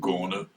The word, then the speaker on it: Gona: The infantry went to Sanananda or Gona or Gona, which is its proper name, but we never called it Gona. But the natives call it Gona. Yes, that's the way it's pronounced by them.